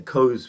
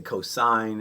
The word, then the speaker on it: cosine: And cos, we don't say cos, we say cosine. I mean, sometimes we're lazy and we say cos, but it stands for the cosine.